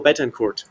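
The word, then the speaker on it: Betancourt: He became obsessed with Venezuela's president, Ramulo Betenort, or I guess that's the French pronunciation, Betenor.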